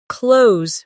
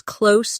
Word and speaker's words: close: As an adjective, close means near, like, "The store is close to my house." The two meanings sound different. The verb rhymes with rose, while the adjective rhymes with dose.